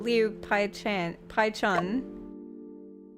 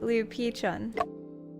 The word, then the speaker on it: 吕碧城: No, what I want to ask is about Liu Paichun. 吕碧城是谁？ Oh, Pichun, sorry. That's how they pronounced it. Liu Pichun.